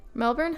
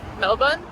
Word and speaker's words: Melbourne: streets good morning from Melbourne Melbourne Melbourne they don't say the r when they pronounce it I don't think it's day two